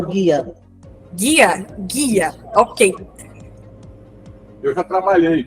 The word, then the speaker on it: GIA: trabalha com o sistema GIA, é isso? Me corrija se eu estiver errada essa pronúncia? É o guia.